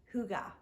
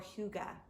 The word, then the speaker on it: hygge: is the concept of hygge or hygge and i believe i'm pronouncing it correctly it's either more like if you think of uh a man's name hugo but it's hugo hugo or hygge and